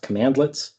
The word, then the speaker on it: cmdlet: CMDLETS is how it's written. It's pronounced commandlets.